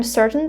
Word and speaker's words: certain: For example, I'm certain this book was written in Britain. So guys, let's look at these words here. Certain, right? I'm holding my T here.